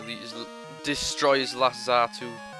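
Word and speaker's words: Xatu: destroy his last Zatu. It's spelled weird, that. Zatu. It's weird how English, like, it's spelled with Z, not X, X-R-2.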